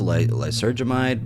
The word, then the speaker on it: lysergamide: Now, I thought it was lysergamide, but I looked up the pronunciation.